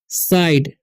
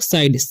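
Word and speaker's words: side: Etch साइड, ठीक है, इसे पढ़ते हैं हम लोग साइड, सीधे या साइडे नहीं पढ़ना है, ठीक है।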